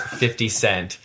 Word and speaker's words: 50 Cent: white people should always clearly pronounce 50 Cent it's not fitty to you I love